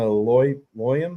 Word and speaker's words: Loyam: For Bronco Nation Live, we have Boise State former gymnast Loyam. Is that how you say it? Yep. Loyam, yep.